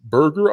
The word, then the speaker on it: Berger: This is from Josh Berger, I assume. Is that the correct pronunciation? Yes, that's how you say it.